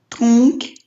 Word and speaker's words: tronc: Tronc. Только К не читаем. После носовых звуков... Вообще К читается на конце слова, да, вот это С, но после носовых нет.